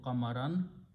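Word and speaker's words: قمرا: Same thing will happen kamarun, it will change to kamaran.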